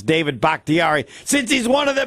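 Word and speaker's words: Bakhtiari: six games uh without uh bakitari uh well bakarian yeah there yes you Larry are a great fan but you really need to be able to pronounce David bhaktiari since he's one of the best players no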